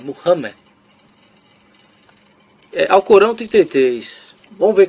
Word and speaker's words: Muhammad: Eu não gosto dessa pronúncia Maomé porque está errado, é Muhammad.